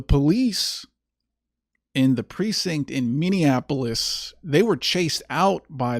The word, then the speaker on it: Minneapolis: Now, this happened in Minneapolis. I used to pronounce that city Minianapolis, but I was corrected by by the locals there. Thank you for that. Uh the police in the precinct in Minneapolis, they were chased out by the mob.